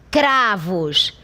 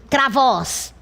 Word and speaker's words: cravos: a sílaba tônica, porque você imprime maior ênfase, cravos. Ah, professora, e será que não é a última sílaba? Não, porque senão a palavra seria pronunciada assim, travóz. E não é assim que é pronunciada essa palavra na língua portuguesa.